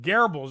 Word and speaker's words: Goebbels: the pronunciation it's pronounced garbles it looks like goebbels but it's not it's garbled but that's